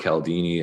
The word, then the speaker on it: Cialdini: It was a book by, I believe his name's pronounced Robert Cialdini, and it's the book called Influence.